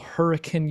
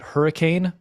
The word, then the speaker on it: Hurricane: If they call it Hurricane, you're like, nope, that's like, you're not local. It's got to be Hurricane.